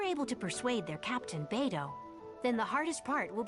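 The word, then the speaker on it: Beidou: up you say her name beto not badou we're get we're going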